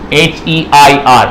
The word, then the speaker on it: heir: अरे एक वर्ड और लिखेंगे यहाँ पे, HEIR। पढ़ो उसको, क्या लिखा? पढ़ो क्या है इसको, पढ़ते कैसे हैं? HEIR को पढ़ते हैं एयर, जैसे हवा को पढ़ते हैं AIR को। उच्चारण दोनों का सेम है।